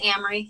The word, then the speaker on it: Amory: again my name is Amory if it helps to remember it rhymes with Cameron like the car last name is